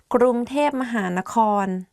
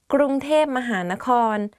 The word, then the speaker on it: กรุงเทพมหานคร: today we are going to do top 10 hardest words to pronounce. Let's begin. กรุงเทพมหานคร Bangkok กรุงเทพมหานคร If you go to Thailand and